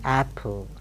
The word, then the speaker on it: apple: Apple like that this Apple Apple and what's the convention there's no doubling of the sounds in a syllable please note down here